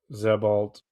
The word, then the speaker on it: Sebald: Then Burroughs against Sebald. Is that how you pronounce that? Zebald.